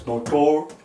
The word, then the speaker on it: notorious: Notorious, notor-E-S. Right here is the this part right here, E with this line right here in B. See, that's how it's pronounced. This E here has the same sound as in B.